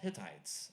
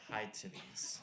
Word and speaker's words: Hittites: It's called Hittites. I don't know why it's called that, you know. Jim High and Bill Tights came in, Hittites. Anyway, the kid pronounced it high titties.